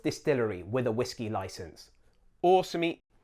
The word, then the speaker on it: Osumi: Osumi. That's a long O at the beginning.